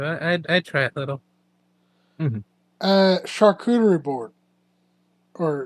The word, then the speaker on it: charcuterie: You just gotta spell it like chart, but with a CH instead. Yeah, charcuterie. Char, cute, rye, board.